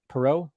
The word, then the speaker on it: Poirot: Poirot. Perot. Okay. Poirot. Well, you get a little. It's not Ross Perot. Yeah.